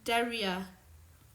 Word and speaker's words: Deria: But yeah, Deriak, but is that how I say your name? Deria. Oh crap, I've been saying it wrong. Deria. Ak. Oh, it's Deria, not Deriak, but what am I talking about?